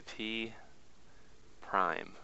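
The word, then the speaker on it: P′: We would say P prime. A little apostrophe. You pronounce it prime.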